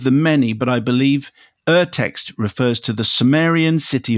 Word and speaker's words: Urtext: The prefix Ur, which is U R, obviously, is pronounced somewhat like the uh O U R in tour. So, it's Urtext. Urtext.